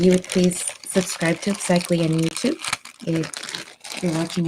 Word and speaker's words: Upsychelly: It sounds like upcycling without the NG. And so you see it's Upsychelly.